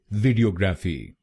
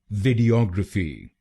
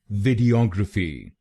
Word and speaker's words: Videography: इसकी सही प्रोनाउंसिएशन है वीडियोग्राफी। वीडियोग्राफी। इस शब्द में 5 शब्दांश हैं। पहला शब्दांश है VID, दूसरा शब्दांश है E, तीसरा शब्दांश है OG, चौथा शब्दांश है RA और आखिरी शब्दांश है PHY।